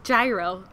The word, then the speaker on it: Gyro: Was it called Euro or Gyro? Oh, Gyro. Yeah, but it's spelled like Euro, right?